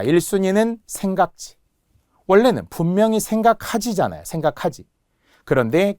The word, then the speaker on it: 생각지: 계열이라고 하는데 자 1순위는 생각지 원래는 분명히 생각하지잖아요. 생각하지. 그런데 기억받침이 오면서 하가 탈락하기 때문에 생각지 못했어요. 발음도 생각지 치라고 하면 절대 안 돼. 생각지.